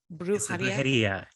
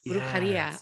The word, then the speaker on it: Brujería: Brujería. Brujería. I said it correctly. I made sure that I got my pronunciation right.